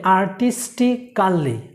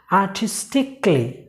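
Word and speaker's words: artistically: ওকে, প্রথম যে ওয়ার্ডসটি রয়েছে, আর আমরা এটা বলি আর্টিস্টিক্যালি, আর্টিস্টিক্যালি। সো এটা ভুল। সো এটা উচ্চারণ হবে আর্টিস্টিকলি, আর্টিস্টিক্যালি না, আর্টিস্টিকলি, আর্টিস্টিকলি।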